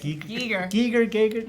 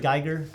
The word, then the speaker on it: Giger: Giger. My Geiger. favorite. How do you say it? I always say Giger. Okay, I've heard it Geiger.